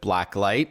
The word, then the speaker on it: BlackLyte: For those unfamiliar with BlackLyte, and we should tell our listeners it's one word, and light is spelled L-Y-T-E, so it's all in capitals, BlackLyte.